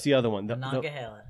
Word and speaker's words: Monongahela: The Ohio, the Allegheny, and then how do you pronounce the other one? The Monongahela. Monongahela, right?